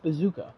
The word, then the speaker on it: BZKA: And then best esports coach, BZKA. Oh, pronounced Bazooka.